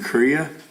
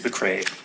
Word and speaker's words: McRae: discussion on contracts for goods and services with henninghouse and olsen and you said korea or mccray yep sorry mccray i know which one is it it's mcrae you know i am i